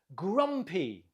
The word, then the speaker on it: grumpy: Note the stress on the first syllable. Listen and repeat. Grumpy.